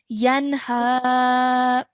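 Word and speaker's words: يَنْهَ: And ha, like we saw, is one of the throat letters. So we're going to again pronounce this noon with a clear noon sound, okay? Yanha.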